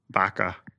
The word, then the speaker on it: vaca: Vaca.